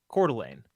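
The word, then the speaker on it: Coeur d'Alene: Lane area oh because I'm putting the EMP emphasis on the wrong syllable then cordelan C that's how you say it oh anyway all of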